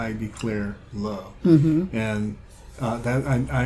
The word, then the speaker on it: DeClaire: love and the main character's name is declare spelled like Claire c-l-a-i-r but uppercase D